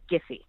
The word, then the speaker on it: Giphy: totally valid question but that's the heart G it's giffy all right so well